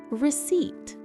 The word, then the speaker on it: receipt: Our first and most important word is receipt. R E C E P T. Note that the P is silent. We say receipt. A receipt is the piece of paper you get when you buy something.